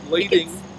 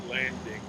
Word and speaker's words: lading: our newer teams so lading is spelled l-a-d-i-n-g lady not landing l-a-d-i-n-g okay all right that's